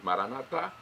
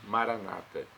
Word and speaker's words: Maranata: significa vinde Senhor Jesus nós católicos colocamos a tônica na última sílaba nossos irmãos separados os evangélicos ou protestantes colocam a tônica na penúltima sílaba na maioria dos casos Maranata então nós pronunciamos Maranata eles Maranata não importa pronúncia o significado é o mesmo vinde Senhor Jesus